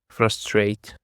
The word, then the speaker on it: frustrate: Now let's go to the second word and it is frustrate. Frustrate. The stress is on the second syllable.